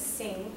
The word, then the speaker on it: Singh: His last name is Singh, Mr. Singh. It's spelled S-I-N-G-H.